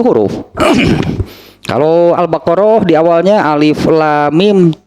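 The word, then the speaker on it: الم: Jadi kalau baca surat Al-Baqarah jangan dibaca alim, alim, lain alif, itu alif, lam, mim.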